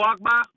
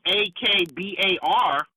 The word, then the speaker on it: Akbar: Now, generally, when I hear a Muslim whose name is that's spelled Akbar, generally, when I hear that word, it's pronounced Akbar and not Akbar.